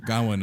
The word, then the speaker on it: Gawain: I was saying it wrong when I was reading the book, but Sir Gawain of the Green Knight tale. Yeah, Sir Gawain, yeah.